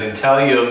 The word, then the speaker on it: Intaglio: reason why we chose that name is because Intel yo means to edge or inscribe that kind of